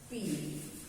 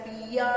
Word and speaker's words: pea: Sound क्या है इसका? हाउ डू we pronounce it? P, only P. हमने स्पेलिंग क्या लिखा? हमने लिखा PEA और इसका प्रोनाउंसिएशन क्या है? P. बस P. PEA बोल रहे हैं लेकिन साउंड क्या आ रहा है? पिया नहीं आ रहा है. PEA पिया नहीं हो रहा है. इट इज P only.